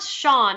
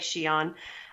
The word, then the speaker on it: Shion: You know, I was like, it's not Sean. Like it is Sean, but they say it like Shion.